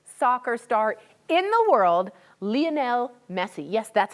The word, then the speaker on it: Lionel Messi: protects the biggest soccer star in the world, Lionel Messi. Yes, that's how it's pronounced.